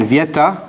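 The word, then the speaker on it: Viète: important contribution by frenchman vieta or sometimes pronounced viete i guess there's an accent here francois viette who was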